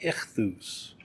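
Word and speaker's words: ΙΧΘΥΣ: use that fish because the word fish is pronounced something like if loose it's a five letter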